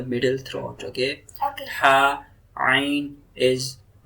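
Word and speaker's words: عين: So middle throat, ain. Ain. Ha. Ha. It will pronounce from middle throat.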